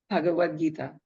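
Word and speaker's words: Bhagavad Gita: and the bav do I say it right pagad Gita that's right would let her to become a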